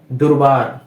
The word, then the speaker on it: দুর্বার: এখানে এখানে কিন্তু মাঝখানে ব এবং দয়ের মাঝখানে কোনো র নেই, কিন্তু উচ্চারণের সময় একটি র কিন্তু চলে আসছে। দুর্বার। দুর্বার কেন আসছে সেটা? এর কারণটা হচ্ছে এই যে বয়ের উপর একটা কি রয়েছে? রেফ রয়েছে। কোন বর্ণের উপরে যদি রেফ থাকে সেই বর্ণটি উচ্চারণ হওয়ার পূর্বে একটি র চলে আসে।